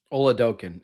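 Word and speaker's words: Oladokun: Olaoken is how you say his name, by the way.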